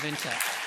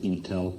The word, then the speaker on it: Intel: Leader Award goes to Andy Grove, former Chairman and CEO of Intel.